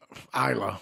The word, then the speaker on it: Isla: Isla. Yeah, I always don't know what pronounce. It is. Yeah, Isla is better because I always pronounce the S, and the S don't.